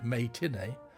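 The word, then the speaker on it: Mae Tinee: Viewing the censored version, its critic, May Tinney, a play on words and also being pronounced as matinee, wrote, quote, "Free Women, as it stands, is graphic and unpleasant enough.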